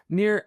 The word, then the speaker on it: Nir: Near spelled like my first name.